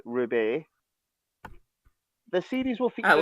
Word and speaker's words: R/B: titled as Ultraman R/B, pronounced Ruby.